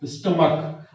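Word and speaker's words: stomach: देखिए इसको स्टमक च नहीं पढ़ते, इसे क्या पढ़ते हैं, स्टमक।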